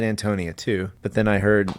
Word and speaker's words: Antonia: say read the note the note says the boho bohemian name is strongly accented on the first syllable so we're all doing that I said Antonia too but then I